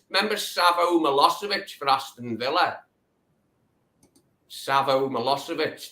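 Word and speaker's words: Milošević: he couldn't pronounce Milosevic. He said mythology. I mean, where he got that from, I'll never know. Like, 'cause it doesn't sound anything like Milosevic to me.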